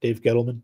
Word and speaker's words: Dave Gettleman: Dave Gettleman?